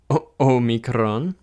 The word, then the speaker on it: Omicron: again well excuse me Omicron and this looks like an O and it is just